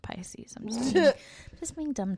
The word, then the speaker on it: Pisces: His date of birth was March 10th of 1948, and he is a pickies. I know it's pronounced Pisces.